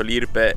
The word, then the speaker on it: Lirpe: Oltre ad avere il LED anteriore con scritto Lirpe, lo pronuncio Lirpe, poi è super italianizzato, a meno così non